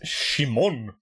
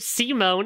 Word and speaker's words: Simon: It's like looking at Gurren Lagann and be like, yeah, that guy's name is Shimon. No, it's fucking Simon. His name is not... They pronounce it Simone in the fucking dub.